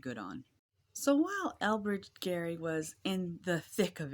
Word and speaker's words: Gerry: Now, it should be noted that technically everyone says Jerry Mandering, but his name was actually pronounced Gary.